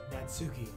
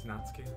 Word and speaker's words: Natsuki: It's not Natsuki, it's Natsuki. I mean, that's how I would Natsuki.